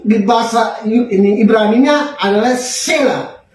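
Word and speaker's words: צלע: Nah, tapi kalau di dalam yang kita baca tadi, tulang rusuk di bahasa ini Ibraninya adalah sela. T-S-E-L-A. Sela. T-sela. Jadi bacanya sela.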